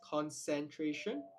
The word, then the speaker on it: concentration: Take note, concentration, the second C has the sibilant pronunciation, so it is concentration.